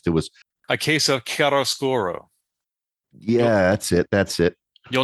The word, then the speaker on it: Chiaroscuro: Oh, just as an aside, everybody, Ken and I actually looked up the pronunciation of this before we started the podcast. It was A case of Chiaroscuro.